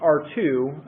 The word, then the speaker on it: Err: And then there's the other one I've got mentioned down there, which is pronounced R2, but it's spelled ERR, and that's a Python bot.